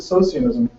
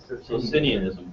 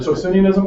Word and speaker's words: Socinianism: I pronounced it Socianism. Does anybody know what that is? Socinianism. Or Socinianism?